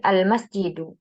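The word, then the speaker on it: المسجد: ada huruf Min kemudian almasjidu almasjidu apabila satu kata dia berdiri sendiri tidak ada suatu sebab yang menyebabkan dia berharakatfan berharakat fathah atau kasrah maka dia selalu kembali ke asalnya berharakat damah almasjidu kemudian di dimasuki oleh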